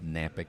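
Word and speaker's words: Knapik: to my name, Napick. That's K-N-A-P-I-K. The K is silent.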